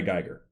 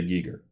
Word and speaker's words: Giger: I've ever heard say Geiger I believe it is pronounced geeker every person I've ever